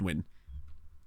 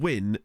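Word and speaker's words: Nguyen: as part of that I think it's pronounced win so t i remember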